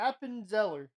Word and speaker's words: Appenzeller: Well, try to pronounce it. Appenzeller.